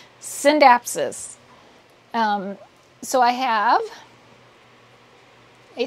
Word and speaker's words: Scindapsus: to train myself because I always would say skin dapsis but actually the sea is silent synapsis um so I have